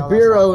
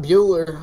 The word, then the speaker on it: Bureau: Federal Bureau of Investigations it's Bureau not Bueller I'm sorry it's English